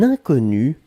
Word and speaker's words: inconnu: Alors, faites attention avec le premier mot, puisqu'effectivement, inconnu, on peut le prononcer de la même façon au masculin et au féminin.